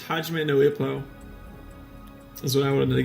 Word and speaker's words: Ippo: If you make it INPO, INPO, INPO means erectile dysfunction. So if you mispronounce this series like I did in front of Japanese people and say Hajime no INPO or like Yimpo or whatever, they'll just laugh.